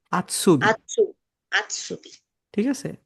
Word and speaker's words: Azubi: যারা আউস বিল্ডিং করে তাদেরকে বলা হয় আউটসুবি, না, আউটসুবি না, আতসুবি। আতসুবি। ঠিক আছে, আজুবি বলবেন না কেউ, এটাকে হচ্ছে আতসুবি, এইভাবে উচ্চারণ করো।